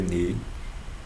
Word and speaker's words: nu: Ni, o Nu, né, se escreve Nu, N-U, mas se lê Ni.